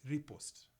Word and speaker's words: riposte: I don't know if this is the correct pronunciation. The perfect riposte.